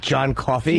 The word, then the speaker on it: John Coffey: He doesn't look like John Coffey. Jesus Christ. John Coffey. Not, what is it? Like the drink, but not spelled the same.